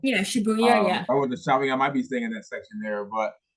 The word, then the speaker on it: Shibuya: I can't pronounce it. I want to say Shibuya. I think you said it was called. Yeah, Shibuya, yeah.